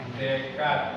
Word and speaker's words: Descartes: Bacanya Descartes ya.